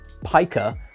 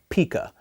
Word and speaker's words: pica: of my mispronunciations where instead of uh Pica I say Pika have you ever heard of something called pika I know that I